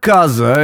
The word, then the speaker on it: casa: And yet the word casa is spelled with an S-E. That's because it's voiced if it's between 2 vowels, or if it's followed by any of the nasal consonants.